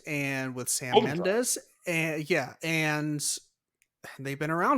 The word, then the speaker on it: Mendes: It's pronounced Mendes.